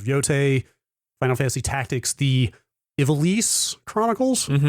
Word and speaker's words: Ivalice: Ivalice is how they say it very much in the game. I've been pronouncing it very much like the wrestler Ivalice. So right. That's kind of how well I'm jumping the gun here. That's how I went into this pronouncing it, but all the voice actors say Ivalice.